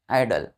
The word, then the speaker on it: idle: तीसरा, जैसे कि हमने बोला IDOL, आइडल। क्या पढ़ते हैं इसको? आइडल। ये देखिए IDLE, इसको भी क्या पढ़ेंगे? आइडल।